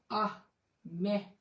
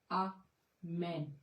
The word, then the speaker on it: आमीन: जिसका मतलब होता है जिसका उच्चारण ऐसे करते हैं हम आ मैं या आ मैं फिर से दोहराती हूं हूं आ मैं या यह आ मैन यह शब्द पहले लैटिन